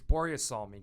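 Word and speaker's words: Börje Salming: mini series about borea borea salman do you know who boria salmin is i and i'm probably saying his name wrong as if i wasn't swedish but it's boria psalming he was a legendary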